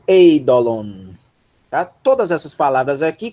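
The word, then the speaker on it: εἴδωλον: Olha aqui, pessoal, ó, o ditongo, tá? Pronunciam-se as duas vogais, ei. Vejam que, por ser um ditongo, a aspiração vai para a segunda vogal e o acento também, ó, está aqui, essa é a sílaba tônica, tá? Então, ei. Ei. Dó, lon. Eidolon.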